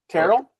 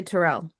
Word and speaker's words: Terrell: um my last name my last name people pronounce wrong but I don't care Terell yeah people say Terrell that's what I say what is it Terell Terell the only reason I